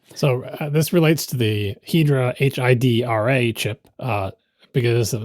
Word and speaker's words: Hidra: this relates to the hedra hi chip uh because some people think that it should be pronounced Hydra and then people like